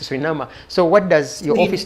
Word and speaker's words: Suriname: minister of tourism in surinama like you call it sorry we are pronouncing it as Suriname so surinama now we know it's a surinama so what does your